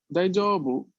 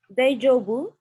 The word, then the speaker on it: 大丈夫: No, no es ahí el problema es en la J, que la pronuncia es muy suave, tiene que ser un poco más dura. Daijoubu, Daijoubu desu. un poco más adelante la lengua.